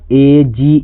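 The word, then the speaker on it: age: यदि ई लास्ट में आए तो जनरली अधिकतर जो होता है अधिकतर वर्ड में जो होता है ई साइलेंट होता है। जैसे यहां आप देख सकते हैं ए जी ई इसको ए जे नहीं पढ़ते हैं।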